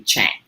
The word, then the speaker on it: Tschang: my name's chinese name it's a german spelling of a chinese name and the ts is silent so it's a little tricky it can be shang but it's actually chang so i just want